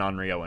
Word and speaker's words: Onryo: Show us the Onryo ability. I haven't had an Onryo in forever. How do you pronounce it? Onryo or Onryo?